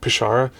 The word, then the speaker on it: Przywara: This is a collection of essays, and there's one in particular by Father Erich Przywara, something like that. Przywara, right? Przywara, that's right. But it's spelled Przywara.